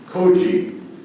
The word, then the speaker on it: koji: koji, Names, words, please.